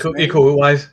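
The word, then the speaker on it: Iko Uwais: Um, Io or Io, I forget how you pronounce it. Ecoise. Yeah, eco-wise.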